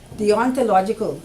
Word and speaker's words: deontological: are discussed in the deontological is the way now you pronounce that like a D on the ontological and tell you logical